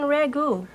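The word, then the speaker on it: ragout: this is called venison Ragu if it's called Ragu how come it's spelled so funny like a stew Ragu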